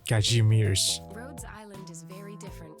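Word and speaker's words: Kazimierz: Wind from Kashmir. Kajimir. Oh, that's that's how you pronounce it. Kajimir.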